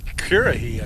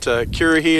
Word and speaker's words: Currahee: Currahee, I guess. No, it's Currahee.